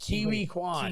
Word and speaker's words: Ke Huy Quan: It's actually Ki- pronounced Kiwi Kwan.